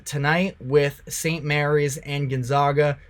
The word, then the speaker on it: Gonzaga: Gonzaga I got um I got some negativity based off of the way that I pronounce their name it's Gonzaga but they should be in